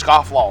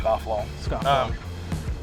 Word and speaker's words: Scofflaw: it's the weirdest thing like its phonetic like it's scofflaw yeah but I think even the first time I saw it I probably mispronounced it to try to try to fancy it up but when I fancy people so it's just scofflaw so you know the